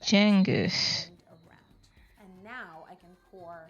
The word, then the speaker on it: Cengiz: So Okay, fun fact about just cut the pineapple into more those people is that Yolanda been saying Cengiz for years, right? His name is actually Cengiz.